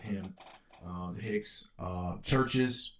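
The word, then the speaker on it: Chvrches: Uh the Hicks uh Churches with a V. It's spelled with a V. C H V R C Hs.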